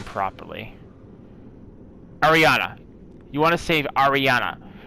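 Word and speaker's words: Arianna: Actually, I think I have it, so I can actually pronounce her name properly. Ariana.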